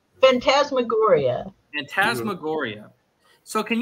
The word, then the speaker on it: phantasmagoria: that uh Phantom's magoria I said Phantoms maguria how do you say that phantasmagoria and tasma Gloria so